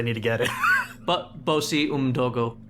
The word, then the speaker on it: Bosi: And he says, My name is Bozi. Bozi Umdogo. Okay. What? Bozi. No, Can you say that in just J voice? Because I need to get it. But Bosi Umdogo.